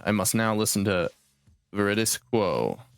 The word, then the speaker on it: Veridis Quo: I must now listen to Veridis Quo. Veridis Quo. Very disco. Actually, Mad Lad said. Oh, very disco. I know. I never put it together until Mad Lad pronounced it, and then I was like, "Oh my fucking god!"